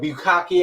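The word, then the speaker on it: bukkake: Get a little bit of bukaki action. And if you know what that means, you're nasty. Bukaki. That's how you pronounce that Something do with poo.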